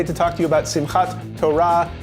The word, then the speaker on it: Simhat Torah: Greetings, hero design, your friendly neighborhood rabbi, and I'm here today to talk to you about Simhat Torah, pronounced in other communities as Simhat Torah or Simhat Torah.